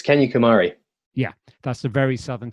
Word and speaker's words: Kanyakumari: It's can you pronounce it for us where you end your journey? It's Kanyakumari.